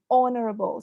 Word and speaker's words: honorable: Then another pronunciation error is honorable. So the H, silent H's, that's one common pronunciation error.